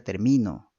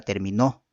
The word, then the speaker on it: termino: Pero sí tomamos la fuerza de voz en la segunda sílaba, ¿no? Entonces, enseguida termino, dice, ¿no? Enseguida termino. Estamos hablando en la segunda sílaba, ¿no es cierto? No puedo decir enseguida terminó, ¿no es cierto? No es correcto, ¿no es cierto?